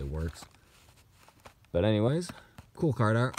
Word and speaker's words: WRX: Here's a Subaru Works STI. At least that's how I like to pronounce it. It's a WRX, of course. I just say Works.